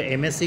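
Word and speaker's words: MSc: तो एमएससी के उच्चारण को हम देखेंगे तो हिंदी वर्णमाला के स्वर से इसके उच्चारण की शुरुआत हो रही है, एमएससी।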